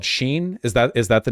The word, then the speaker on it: Shein: Shein, it's 2 syllables. Shein.